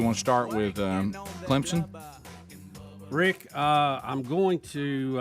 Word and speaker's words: Clemson: getting on you but you're pronouncing clemson correctly just like a telemarketer calling you by the wrong name we can always tell someone doesn't know clemson when they try to pronounce it without the p that's right so they're